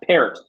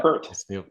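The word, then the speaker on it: Peart: because he told me my name is pronounced parrot it's not per yeah well I'm I'm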